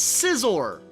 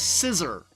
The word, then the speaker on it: Scizor: of pointless Boesel it's scizor the Pokemon whose name can often be mispronounced as scissor as an ass thing